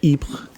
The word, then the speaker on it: Ypres: And they ended up at a city called Ieper in Belgium, or Ypres, if you're using the French pronunciation.